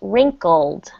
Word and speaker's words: wrinkled: So, to press my It's pronounced wrinkled.